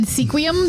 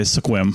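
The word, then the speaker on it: Sequim: that and they're lucky I know how to pronounce squim because I'm from Washington so I did not I think I said sequum the first time right they're probably they're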